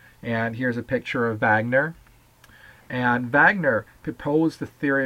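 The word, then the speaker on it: Wegener: guy named Vagner Alfred Vagner you might look at and say well doesn't it say Wagner well he was German so we're going to pronounce it Vagner just like the Volkswagen so in in this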